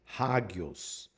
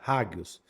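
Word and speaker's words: ἅγιος: Antropos, mas quando ela tá a vírgula ao contrário, aí você pronuncia como se fosse um H. Raggios.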